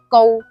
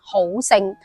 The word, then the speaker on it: 郜: 右耳刀，呢個字普通話讀交，粵語讀告，高姓。但係好多人會將佢誤讀成好姓。